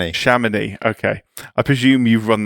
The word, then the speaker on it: Chamonix: held in Sham, Please tell me how to pronounce it. Sham. Shaman.